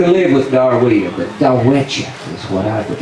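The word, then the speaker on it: Darwettia: it's spelled D-A-R-W-E-T-T-I-A, and the Choctaw pronounce it Dawecha. Now I love that. It sounds so romantic, and it just rolls off the tongue, Dawecha. But them Oklahoma hillbillies turned it into Darweeta.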